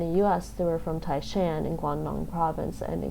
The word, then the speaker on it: Taishan: of them were from Tai Shan what's modern Lee called tycion yeah that that's the Mandarin pronunciation of the place and so just say Tai